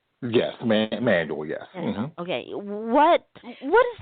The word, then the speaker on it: Manuel: As a black male watching, young women like Simone Manuel, and did I pronounce her name correctly? Yes, Manuel, yes.